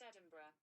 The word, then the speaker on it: Edinburgh: That's pronounced Edinburgh. Edinburgh.